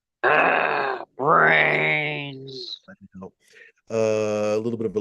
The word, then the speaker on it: BRAINZ: Speaking of D, though, ladies and gentlemen, don't forget the coupon code BRAINZ, BRAINZ, which is pronounced how, D? Brains.